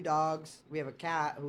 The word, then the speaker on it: Doug: U is silent, bro, so it's Dog.